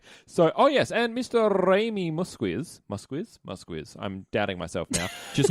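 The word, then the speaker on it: Muzquiz: The director for the episode is, I looked up how to say his name this time. It's Raymond Musquiz. Musquiz.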